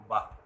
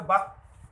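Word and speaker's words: বাঃ: এগুলো যেমন বললাম আর বিসর্গের প্রকৃত উচ্চারণ হচ্ছে হ এর মতো বা নমঃ এই জাতীয়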